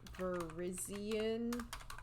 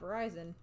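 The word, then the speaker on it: Virizion: We have Verizion. Not Verizon. How do you spell that?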